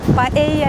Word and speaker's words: paella: Paella yedim. Biz ona Rusça paella diyoruz ama biliyorsunuz İspanyolcada iki el yan yana olunca y olarak okunuyor.